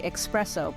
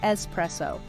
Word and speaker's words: espresso: Many people say espresso, but the correct pronunciation is espresso.